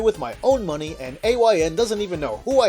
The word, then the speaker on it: AYN: are some questions on how to pronounce a YN whether it's the letters or just a but it's the letters because it's an acronym that stands for all you need you don't have